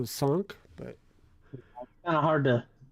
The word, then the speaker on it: cinq: Or cinq. Chunk. Chunk? I think with the AH it's an ah sound, so sonk, but Kind of hard to really get it right.